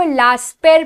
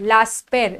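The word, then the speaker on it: Laspeyres: किया जाता है बेटा उसको लास्ट पेर प्रोनाउंस करते हैं लास्ट पेर लास्ट पेर एंड पाश्चर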